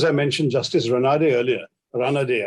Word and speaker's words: Ranade: Just as I mentioned Justice Ranade earlier, Ranade, I think is the right pronunciation, who had a social justice movement, a social conference, which is also a reformist thing.